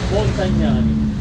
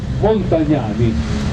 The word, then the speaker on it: Montagnani: Roberto Galuzzi, Andrea Monte, come si pronuncia questo qua? Montagnani. Montagnani, bravissimi ragazzi.